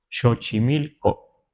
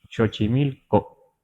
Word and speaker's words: Xochimilco: en lagu aeca en Veracruz y le decimos chochimilco así chochimilco así lo pronunciamos no sabemos si aquí lo pronunciaban los